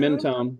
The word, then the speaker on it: Mentone: Mentone? Is that the name of the yeah, town? Mentone.